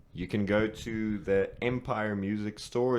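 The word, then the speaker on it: Mpyre: So right now, in SA, you can go to the Empire Music Store. It's spelled M-Pyre.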